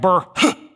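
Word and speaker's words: burh: something known as the Burr system don't you love these old words furred and Burr and and look how it's spelled b-u-r-h looks like Burr so Dr Merkel says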